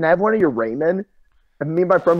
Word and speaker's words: ramen: And he was like, "Dude, it's pronounced ramen."